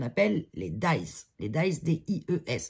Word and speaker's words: dies: Les dies, D-I-E-S. Alors je sais qu'il y en a certains qui prononcent dièse. Pour moi, c'est dies en anglais.